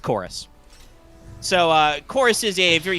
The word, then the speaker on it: Chorus: Usually written as Corvus, with the Roman U as the V, but it's pronounced Chorus.